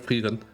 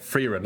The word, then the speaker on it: Frieren: It's just like I never looked at her name as the German word Frieren, so in my head I just say it like Frieren. I say it like the, you know, like wrong technically, so to speak.